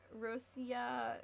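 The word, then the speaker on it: Россия: Um, Rosia is how it would be pronounced. Rosia, is that how you would say it in Russian? Rosia. I'm trying to I'm trying to get that R thing down.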